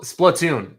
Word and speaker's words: Splatoon: Plun. Splatoon. That's what I meant to say. Splatoon. Thank you, Coupe. My uh pronunciation is very, very poor.